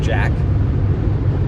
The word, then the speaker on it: JAQK: It's spelled J-A-Q-K, so I think you pronounce that Jack.